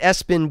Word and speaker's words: ESPN: You pronounce it Espin, but we know what you did.